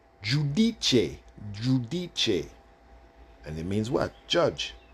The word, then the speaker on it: Giudice: So the G-I-U, Jew, the U is pronounced the U. The U is pronounced U in Italian, U. So when you see the U, it's pronounced U. So when you put the words together, G-I-U, it would be Jew. D-I-D. C-E, che. So when you put it together, Giudice.